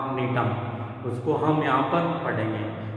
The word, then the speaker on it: Gnetum: और यहाँ पर जो ये जी लिखा हुआ है, ये जी क्या है? यहाँ पर साइलेंट है। जैसे हमने गिंगो जो प्लांट पढ़ा था GINK0, गिंगो में के साइलेंट होता है और जो नीटम का जो प्लांट है